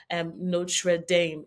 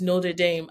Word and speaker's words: Notre Dame: He used to be like, it's not Notre Dame, it's Notre Dame.